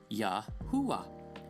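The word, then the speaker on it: Yahuah: need to be added you can sound it out with no need for adding vows yahua and so did the Patriarchs and we will prove they pronounced this name this way and that's yah for short sometimes even Yahoo but never y Yu yo or any other sound not in terms of the name of God and when he inserts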